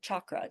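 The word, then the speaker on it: cakra: If you see it spelled this way with just a C ever, the C always makes a ch sound like chakra.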